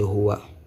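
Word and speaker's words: هُوَ: Ici, nous avons Hu, là, c'est Wa. La lecture, c'est Huwa.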